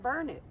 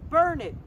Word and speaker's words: Burnet: and we pronounce it burn it it looks like burnett in the sand so you remember it is burn it darn it learn it and then we've got